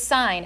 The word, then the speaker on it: sine: This is sine. You see what the little arrow is? Do not say sin. That is my pet peeve. It is sine.